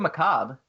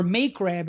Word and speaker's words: macabre: The guy who did Macabre, which was a great movie. We pronounce that macabre. Or May Crab, as my art teacher once said to me.